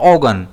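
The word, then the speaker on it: organ: ओगन। इसमें स्ट्रेस जो है वो ओ पर रहता है।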